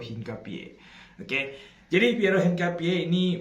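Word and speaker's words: Hincapié: Ini bacanya ya mungkin beberapanya ada yang masih baca hingkapi eh hingkapai. Enggak enggak enggak. Kalau gua nonton Bundesliga, komentator itu nyebut dia tuh Piero Hinkapie.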